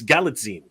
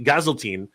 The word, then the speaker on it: Galitzine: I keep pronouncing it wrong. It's Galitzine. It is Galitzine. I used to say Gazeltine. It's actually Galitzine. So I'm getting used like to a Visine. Yes, like a magazine.